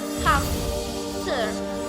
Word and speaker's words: hamster: For the example, when we pronounce the word hamster at the regular speed, most of us will say and hear hamster with a P.